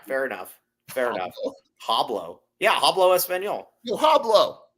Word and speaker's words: hablo: Yeah, hablo español. Yeah, hablo español. Hablo. Yo. You don't pronounce the H. It's not hablo. Yeah, it's like Hablo. It's like Pablo.